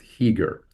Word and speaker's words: Chiger: was uh is pronounced heager. So ch is a silent c.